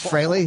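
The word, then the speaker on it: Frehley: spell it wrong fre but it's fry freely admits that fry is the proper pronunciation it is fry fry yeah that's so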